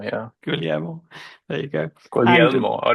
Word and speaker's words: Guglielmo: It's related Guglielmo, yeah. Guglielmo.